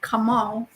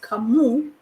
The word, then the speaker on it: Kamau: As a matter of fact, this name, Kamau, it's actually a Kenyan name, and it's a male name. It's a male name, and it's not pronounced Kamau, it's pronounced Kamu.